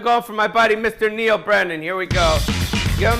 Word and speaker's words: Neal Brennan: yeah Neal Brennan yeah not deal Brenner not deal it's Neal Brennan Neal there's a brand